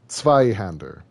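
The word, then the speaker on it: Zweihänder: k's flipped also sometimes oh z's z's make a make a uh a t a t s noise so like zeitgeist is sight geist um zveyhander is sveyhander yeah t makes like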